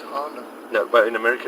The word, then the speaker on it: Honda: The rest of the world, Honda. Honda. Yeah. You see that? It's an O, Honda. It's actually an O, but it's Honda.